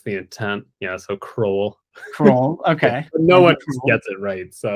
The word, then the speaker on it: Crowell: Crowell.